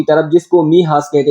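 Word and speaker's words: Mijas: गांव की तरफ जिसको महास कहते हैं इसको आप इस तरह प्रोनाउंस महास यहां पर एम आई जे ए एस है लेकिन ये किस तरह प्रोनाउंस करेंगे महास महास की तरफ अबाउट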